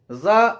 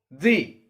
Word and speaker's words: the: let us see about thee when the word starts with an oval for example example so here we'll have to say the example take another word earth